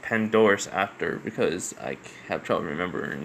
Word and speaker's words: Pandora's Actor: So it's a PH, so it's like Phantomus Actor, but I guess it's actually pronounced Pandora's Actor because I have trouble remembering names sometimes.